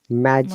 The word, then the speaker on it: magic: If the G is followed by E, I, and Y, most of the cases, we pronounce the soft G. Look at those examples, okay? Magic, Magic.